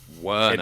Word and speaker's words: Werner: Werner. It took... See, when I say it, you can really hear the pronunciation.